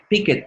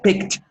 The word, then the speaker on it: picked: Por ahí oí a alguien decir picket. No. Picked. You have to pronounce KT at the same time.